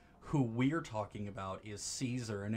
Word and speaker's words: Caesar: I knew it was Caesar. I knew I was supposed to say Julius Caesar. But I was like, Kaisar, big brain, 800 IQ. I played the funny RPG. I know how to say this.